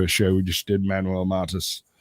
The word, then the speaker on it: Manuel Mata: We just did Manuel Mata. Am I saying that right? Say your name. Yeah, Manuel Mata. Yeah, you said it right.